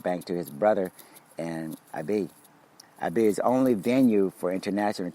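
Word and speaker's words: Ebeye: a contingent of Marshallese to his brother in Ibe, the country's second most populous area. Ibe is spelled E-B-E-Y-E, E-B-E-Y-E.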